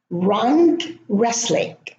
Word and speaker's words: wrestling: In wrestling, there are 2 silent letters, the W at the beginning and the T in the middle.